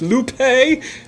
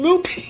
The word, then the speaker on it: Lupe: and licensed to kill and it's like it's lupe but they keep saying loopy that's cree in the background if